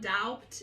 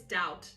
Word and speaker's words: doubt: have adopted okay and it's not doubt it's doubt the fatality yeah it's like debt when you have a t after the B the B is silent okay so it will